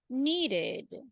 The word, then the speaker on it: needed: do you think that I'm going to say needed because the final sound is a d that's the one aha